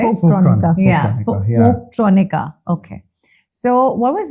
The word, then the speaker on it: Folktronica: Folktronic, right? So that's how you pronounce it, right? Folktronica.